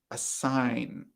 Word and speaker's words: assign: great okay next one a sign a sign the teacher is going to assign us a big project for homework a sign great very good abdullah the g in a sign is silent excellent very good viviana